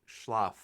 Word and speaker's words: Schloff: I'm like, it's it it doesn't rhyme with anything except prof.